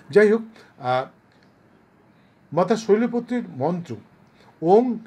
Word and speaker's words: ওং: ও এন জি ওং অনেকে ও এম বলে ও এম বলবেন না ওটা ভুল উচ্চারণ ও এন জি ওং